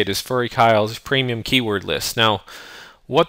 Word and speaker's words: FuryKyle: believe the correct way to say it is furry Kyle's premium keyword list now what that is is